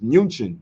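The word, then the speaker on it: München: Europe um when you when you hear the city Munich it's not the real name of Munich it's munin but they couldn't pronounce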